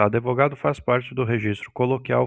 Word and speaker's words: advogado: Quando tentamos falar advogado com D estritamente mudo, nossa boca naturalmente insere uma pequena vogal para ajudar na transição das letras. O D avogado. Aí, consegui falar com D mudo. Identificando o fenômeno de epíntese, essa vogal de apoio faz com que a pronúncia real da palavra seja advogado ou advogado. Esse fenômeno fonético e de inserção de som vocálico é chamado epíntese.